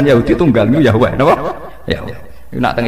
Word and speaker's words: Yahweh: Yahweh. Iku nak teng ejaan Latin Y besar A H besar W E H besar Yahweh.